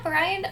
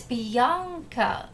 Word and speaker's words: Bianca: Yeah, Brian. Um, or Bian, I I am in a mood today. I'm having a hard time today. So, if you It's Bianca. Okay. Well, I I'm so sorry I mispronounced um your name.